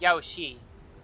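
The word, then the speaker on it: Yaoshi: so that one day Yaosir might be vanquished and the cycle of life and death restored. It's spelled as Yaosi, not Yaosir, but whatever.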